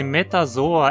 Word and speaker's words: Metazoa: Enfim, se metazoa é pronunciado como uma paroxítona, o mesmo vai ser válido para qualquer nome terminado em zoa, como placozoa, ecdysozoa, nefrozoa.